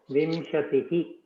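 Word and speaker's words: विंशतिः: Vimshatihi. Vinshatihi 20. Visarga, and you have to pronounce the visarga.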